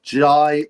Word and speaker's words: Jai: See, I used to call him Jay Oaya. And people say, "No, his name is Jai Jai." I'm like, "Yeah, but every interview some people call him Jay, some people call him Jai." So, I put out um I had to ask everyone and people going, "It's Jai. It's Jai."